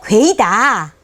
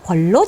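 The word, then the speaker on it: 鱖: 이것은 천자가 좋아하는 것이라 천자라고 부른다고 하면서 쏘가리를 상고하건대 쏘가리를 나타내는 한자의 음은 궐이 아니고 괴이다. 괴이다. 이게 우리나라가 이미 백과사전 최초의 백과사전에 나와 있어요. 근데 세상에서 입성, 그러니까 사성 중에 입성을 발음하다 보니까 궐로 잘못 발음했다.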